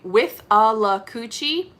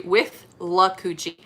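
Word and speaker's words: Withlacoochee: okahumka is actually a place and we always mispronounce this all of us i've heard everybody would say it and we always say with a la cuci melinda says i know calessa we say with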